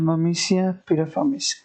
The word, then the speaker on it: Myrmecia pyriformis: है, जिसका नाम है ममीशिया पिराफॉर्मिस। ममीशिया पिराफॉर्मिस ये क्या है? इसका प्रोनाउंसिएशन जितना डिफ़िकल्ट उतना ये एंट भी डिफ़िकल्ट ही है। इसका प्रोनाउंसिएशन है ममीशिया पिराफॉर्मिस।